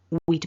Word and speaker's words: we'd: repeat after me we'd better go as in we had better go